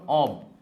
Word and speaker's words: of: ও এফ এর উচ্চারণ অব, আর ও double এফ এর উচ্চারণ অ আর ফ, অফ, এটা অব।